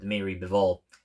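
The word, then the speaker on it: Dmitry Bivol: And then he lost to Demetrius Bevole or Deiri Bevol. That's how you properly pronounce it.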